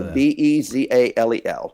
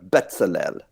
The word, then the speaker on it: Bezalel: So Bezalel, or Bezalel. People pronounce it differently.